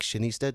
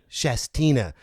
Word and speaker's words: Shastina: great town of Weed, actually Lake Shanista. Did I say it right? Shastina.